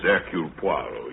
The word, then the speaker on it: Hercule Poirot: Hercule Poirot. How do you do, sir? Mr. Poirot is our new neighbor. If I may be permitted one slight correction, my name is Hercule Poirot.